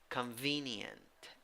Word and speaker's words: convenient: letters and 10 sounds three syllables the second syllable is the stressed syllable first syllable second syllable e with a hat pronunciation e third syllable what is the pronunciation convenient convenient number ten the opposite